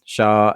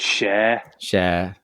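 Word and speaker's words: Schär: So it's Shah and Barnes. See, I would have said Share.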